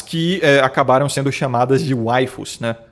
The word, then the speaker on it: waifu: Que é a palavra wife em inglês, que significa esposa, porém pronunciada no sotaque japonês, né? Fica waifu. Porque lá eles não têm o fonema fi, né? Então eles substituem pelo fonema fu que existe lá.